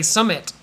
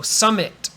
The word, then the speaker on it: summit: way if you want if you heard me to enunciate I said light but uh you don't have to there's no T sound if you don't want to so you could say Summit a little bit that's okay and you might do that to make it clear um because this stop is actually pretty hard it might be easier to do a little bit of a t so Summit that's okay but you don't need